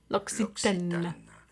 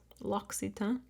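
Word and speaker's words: L'Occitane: Loxitan is how it is said in French or in English. Loxitan. It is lockitan.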